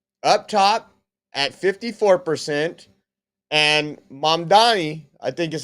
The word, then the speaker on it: Mamdani: But a New York City poll has come out, and they have Cuomo up top at 54%, and Mamdani, I think is how you say his name, at 46%.